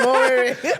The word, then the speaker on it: Owere: That is the third name, Owere.